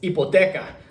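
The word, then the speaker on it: hipoteca: the island it's ipoteka it's spelled with an H but in Spanish the H is at the beginning of a word are silent like for like for Ola you don't say hola you just imagine that the H isn't there like like in in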